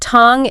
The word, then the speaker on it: tongue: We need a spelling and pronunciation clinic right now. We really do. Because the word tongue is an absolute nightmare for English learners.